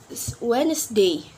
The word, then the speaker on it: Wednesday: letter is letter D in letter D we we still not pronounce it too like in the word Wednesday we not pronounce d in wet in the